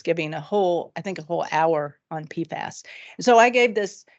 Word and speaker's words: PFAS: Janet Hamilton, is giving a whole hour on PFAS.